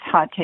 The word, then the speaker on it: Hatha: I used to call it Hatha Yoga, and I realized it's really supposed to be pronounced Hatha Yoga, I think.